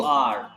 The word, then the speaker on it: est: Sir, how do you pronounce that EST? Il? EST is A. Simple English alphabet A.